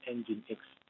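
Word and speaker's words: nginx: kemudian pengguna Apache atau engine.exe yakni bacanya engine.exe ispconfig dapat digunakan secara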